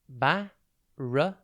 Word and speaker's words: barricade: TV today's word is barricade it's pronounced barade and it is spelled b a r r i c a d e think bar but with two RS then the letter I and then Cade a barricade is a